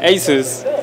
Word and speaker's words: ASUS: Ok, porque esa es la pronunciación correcta, ASUS, ¿de acuerdo? Nosotros lo modificamos a ASUS aquí en México, pero sigue siendo ASUS.